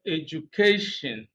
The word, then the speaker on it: education: the word for example the word education stress is placed on the second I mean second to the last syllable that's that's the level